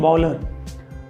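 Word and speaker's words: bowler: में बॉलिंग करते हैं बलर अब बलर बोलने के लिए हमें देखिए दोस्तों बलर यहां पे डब्लू जो है ओ की तरह इसका उच्चारण हो रहा है तो यहां पे डब्लू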